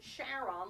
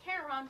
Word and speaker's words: Charon: So those people in the know pronounced it Charon, like his wife Charlene, and people who are more into mythology pronounce it Charon, but it's really the same name.